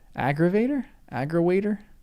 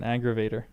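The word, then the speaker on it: aggerawayter: William Baker in Sketches by Boz, the London medley that became Dickens' first book is similarly named aggrawaitin Aggrawater? So, he just says aggrawater rather than aggravater.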